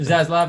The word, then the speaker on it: Zaslav: this to happen because, Zaslav, how do you pronounce that? Zaslav. Zaslav, yeah.